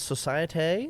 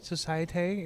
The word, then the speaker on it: Societe: So, I think it's Societe. Societe because it doesn't have a Y. It's got an E in the end.